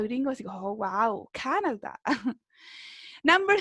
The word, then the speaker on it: Canada: Marcamos la voz, ¿cierto? En la primera sílaba, Canada. ¿Ya? Como cuando uno dice Canada Dry, como cuando uno compra la bebida, ¿sí?